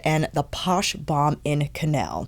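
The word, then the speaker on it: Canelle: I think it's canel because it is spelled C A N E L L E. My apologies, family, because I have a tendency to mispronounce words. And yeah, it's canel, not canal.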